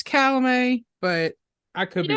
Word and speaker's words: Chalamet: I think it's Chalamet, but I could be wrong. But that sounds bad. Either that or Chalamet. It's obviously the T is silent, but honestly, I'd probably put him up.